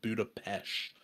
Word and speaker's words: Budapest: actually it's it says Budapest but apparently you pronounce it Budapest and uh then I came back and I